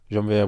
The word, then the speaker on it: Janvier: You know, I'm so used to explaining my name because every time I tell someone my name is Janvier, like Jean-Pierre.